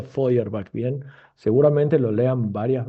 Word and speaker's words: Feuerbach: Este autor alemán se llama, se escribe Powerbatch, pero se pronuncia Ferbach.